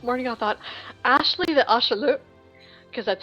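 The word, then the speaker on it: axolotl: But this morning I thought, Ashley the Ashalute, because that's how you pronounce it, Ashalute.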